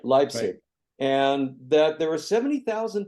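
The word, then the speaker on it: Leipzig: in East Germany yeah leig leig right leig and that there were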